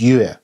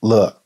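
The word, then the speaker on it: 樂: is not marked so the character should be read in the meaning of music and pronounced as yue instead of le if we read further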